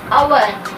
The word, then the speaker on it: hour: We do not say ar, even though the word is beginning with the consonantal letter. The word is beginning with the consonantal letter here. H is the consonantal letter, but the sound which is produced here is a vowel sound.